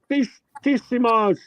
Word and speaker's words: Finissimo: Octo Finissimo, Paul Silicius, Octo Finissimos. I gotta tell you, Bear. Octo Finissimo. Okay, that's how it's pronounced.